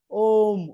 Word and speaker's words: om: talks about omam has om is pronounced as what u m um om om what we call oh means a u m these three syllables are there so this